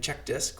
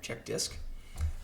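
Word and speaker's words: CHKDSK: errors so I ran check dis which is spelled uh c h k dsk all right check dis um so here I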